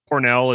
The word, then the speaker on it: Pournelle: Pornell is spelled Pournelle.